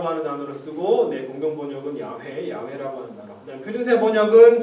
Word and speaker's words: 야훼: 사실 이거는 여호와라고 하는 단어는 말도 안 되는 발음이고. 이 YHWH를 사실은 가장 근접하게 발음했을 가능성이 무엇일까라고 학자들이 추정을 해가지고 여기다가 아하고 에를 집어넣은 거예요. 야훼라고 발음했을 가능성이 가장 높다라는 학자들의 재구성이고 학자들의 추정입니다.